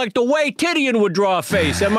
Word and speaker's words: Titian: Number one, I think it's pronounced Titian. No, it's Tidian, Brad.